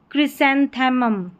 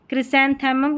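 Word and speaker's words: chrysanthemum: यहां पर है क्रिसेंथमम। क्रिसेंथमम ये थोड़ी बड़ी स्पेलिंग है और यहां पर आप इस स्पेलिंग का प्रोनाउंसिएशन देख सकते हैं।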